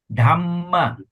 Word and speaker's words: dhamma: must pause yes yes all the double consonant you must do that dhamma buddha dhamma you se you don't say dhma dhamma we say dhamma pause at the double Yes.